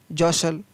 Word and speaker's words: jostle: FASTN fasten, तो यहाँ पर भी टी का उच्चारण नहीं है। CASTLE काशल, JOSTLE जोशल, SUSTLE हसल, BUSTLE बसल।